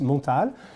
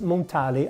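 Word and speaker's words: Montale: is Pierre mortal so it is French it's pronounced montal but I don't know if in their marketing they want to pronounce it montally I don't know but I think it's or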